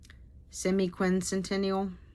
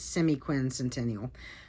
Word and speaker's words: semiquincentennial: try to finish before the United States's semiquincential. Did I say that right? If I didn't say it right, I'll put the word across the screen at screen. I think it's semiquincentennial.